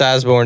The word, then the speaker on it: Osborne: there is an e there's a silent e at the end too so it's it's all